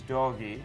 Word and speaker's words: Dogeee: Actually, pronunciation is doggy, as a doggy, but we spell D-O-G-E-E-E, three E's.